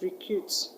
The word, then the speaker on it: recruit: In the word recruitment, the root word is recruit. Recruit. The word recruit, is it an action word or a noun? Is an action word, is a verb, so the stress will go to the second syllable.